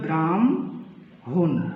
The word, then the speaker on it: ব্রাহ্মণ: হবে তারপরে হটা হচ্ছে উচ্চারণের ক্ষেত্রে আগে ম তারপরে হ যেমন আমরা উদাহরণ যদি নেই ধরেন এখানে আছে আমরা আছি ব্রাহ্ম ব্রাহ্মণ কিন্তু এটার উচ্চারণ হবে কি উচ্চারণ হবে ব্রাহ্ম হুন অর্থাৎ কি পরিবর্তনটা হইলো